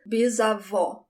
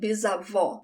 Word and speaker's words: bisavó: Great-grandmother, bisavó. Again, I have the open sound, bisavó.